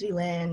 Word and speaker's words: Vylinh: i'd have to say no my name is villain like oh villain i'm